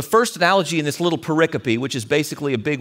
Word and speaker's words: pericope: Jesus reaches for the first analogy in this little pericope, which is basically a big word that John made up to mean, I'm kidding, he didn't.